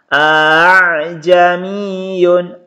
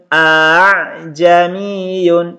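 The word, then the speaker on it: أَعْجَمِيٌّ: Cara membacanya hamzah yang pertama dibaca jelas a. Ini dibaca jelas a. Ini tadi tulisannya teman-teman sekalian a. Kemudian hamzah yang kedua dibaca samar atau dibaca ringan. Jadi cara membacanya a'jamiyun, a'jamiyun. Jadi tidak dibaca a'jamiyun, tapi ini dibaca samar atau dibaca ringan a'jamiyun. Nah, ini terdapat pada Quran surah Fussilat ayat 44.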